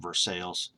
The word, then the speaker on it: Versailles: And in 1812, he moved from Virginia to Versailles, or I think they pronounce it Versailles, Kentucky.